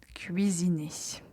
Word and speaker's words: cuisine: Faites attention quand vous prononcez u i. Donc, il faut entendre clairement les deux voyelles.